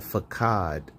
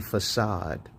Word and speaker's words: facade: Because if you mispronounce words like, you know what, I think it was Remy Martin who who mispronounced a word. She said fakad. It's supposed to be facade but she she pronounced it as fad or fade something like that.